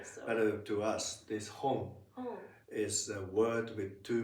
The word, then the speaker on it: 本: It's home. H. Yes. The typical foreign accent is that to pronounce it as one syllable word. Yeah. H. Is it wrong? Very in Japanese it's it has two morals.